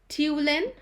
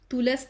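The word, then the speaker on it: Tulasne: call it tulin brothers so the s is silent okay question 71 who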